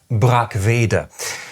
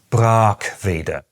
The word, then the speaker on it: Brackwede: Those in the know, however, pronounce it “BRAAK-ve-de”.